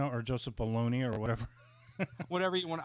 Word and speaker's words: Bologna: whatever whatever you want I try to pronounce it like the classier way below below that's how I pronounce it could be Joseph Bologna for all I know but I just say below now now what I remembered